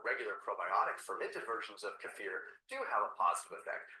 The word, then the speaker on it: kefir: Some people call it kefir. I've heard that it's properly pronounced kafir.